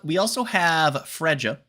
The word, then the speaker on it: Freja: We also have Freja, definitely not pronounced Freya, trust.